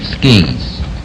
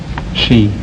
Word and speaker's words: ski: Number one, is it pronounced ski or she? Ski in the United States. And in Europe? She.